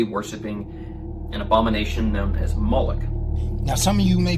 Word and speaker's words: Moloch: The MLK is vocalized as Moloch, or Moloch, in the Masoretic texts, which is an authoritative text in Rabbinic Judaism. It's from this pronunciation that we get the contemporary name Moloch.